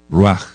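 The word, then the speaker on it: רוח: empezar por decir que espíritu eh es raj raj en hebreo ruaj r u a j ruaj ruaj que alma alma es nefes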